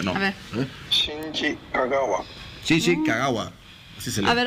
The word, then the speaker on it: Shinji Kagawa: Y un propio japonés es el que te lo pronuncia, ¿no? A ver. Shinji Kagawa. Shinji Kagawa.